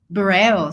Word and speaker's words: Bureo: So Bureo, sorry, yeah. I was mispronouncing it.